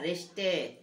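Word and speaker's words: wrist: अब इसकी स्पेलिंग कल हमने आपके लिए नियम जो बताए थे, है ना, कि WRI में जो आपका W रहता है वो साइलेंट रहता है, तो इसकी स्पेलिंग क्या बनेगी, रिस्ट बनेगी ना, रिस्ट यानी कलाई, ठीक है।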